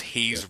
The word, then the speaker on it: Haze: Haze rhymes with it's got to be like maze or something like that, but that doesn't really make any difference, right?